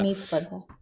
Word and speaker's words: Aneet Padda: Anit, is it? Padda, Anita? yeah. It's Aneet a Padda. weird, I find it a weird name to pronounce. Yeah, Anit Padda. Aneet Padda.